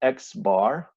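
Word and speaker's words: x̄: measures that we have for this variable so X bar which is how this is pronounced means the mean value of x and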